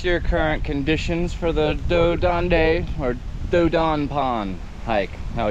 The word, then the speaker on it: Dos d'Ane: It's pronounced Dodon.